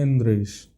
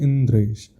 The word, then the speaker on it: इंद्रेश: अब आपका नाम है, मेरा नाम है इंद्रेश, उसका शुद्ध प्रोनाउंसिएशन होना चाहिए इंद्रेश। अब कोई बोले इंदरेश, और मेरे को बार बार इसी भाव से बोल इंदरेश, मैं भी कहूँगा अरे यार ठीक से बोलो ना, इंद्रेश नाम है हमारा।